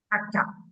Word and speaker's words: kakak: It's quite similar between kakek and kakak. Same pronunciation. It's one word different. Yeah, kakek you use e and kakak you use a. Kakek means grandfather and kakak Means older sibling.